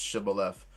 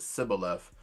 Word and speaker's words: Shibboleth: So I actually think your question concerning judges where the gentleman could not properly pronounce Shibboleth but pronounce it Sibboleth.